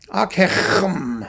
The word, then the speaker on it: Ockeghem: Ockeghem, however you want to pronounce it. Ockeghem. There he is. You can spell it and say it however you like. Ockeghem, Ockeghem. It's like clearing your throat.